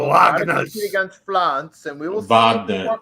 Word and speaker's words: Wagner: flance and we will Vagner it's Vagner they always say it wrong it's Vagner Vagner 8268 7 minutes left